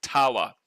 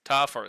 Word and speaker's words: Tafa: 35 through All Blacks Tawa. Or it's Tafa, I think it is. Tafa is how they pronounce it.